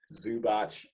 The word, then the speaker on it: Zubac: to say it correctly get out of here zubach zubach for sure okay either way he's tall